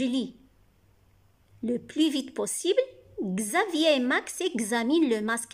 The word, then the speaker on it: Xavier: Xavier, vous avez ici X, se prononce Gz. Gz avec A, Gza.